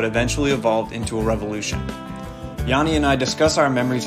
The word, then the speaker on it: Yannis: note I called him Yanis in high school and in this episode but I've since learned he now goes by the true Greek pronunciation Yanni so here's Yanni let's get started already mr.